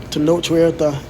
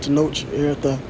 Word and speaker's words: Tenoch Huerta: a still of Namor, played by this actor Tenoch Huerta. Okay, I believe that's how you pronounce it, Tenoch Huerta.